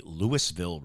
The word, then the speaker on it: Lewisville: local names for instance we have a Lewisville Road that everyone calls Louisville Road and that's just the way it goes I I think more